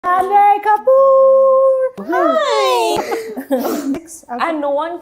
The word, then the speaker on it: Janhvi: And no one can spell And no, with Janvi, No, and for some reason, no one can pronounce it. Pretty like straightforward name to pronounce, right? Janvi is. Janhavi. you know, I Not that confusing.